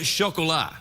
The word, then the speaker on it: chocolat: Anything except the Rum Diaries and chocolat. Oh, how do you pronounce that? What? How do you say that word? Chocolat. It's a French word for chocolate.